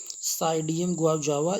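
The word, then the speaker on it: Psidium guajava: गुआवा ज़रा देखिए, गुआवा आप देखें अमरूद, इसको आप कहते हैं साइडियम गुआवजावा, है ना, पी साइलेंट है यहाँ, साइडियम गुआवजावा।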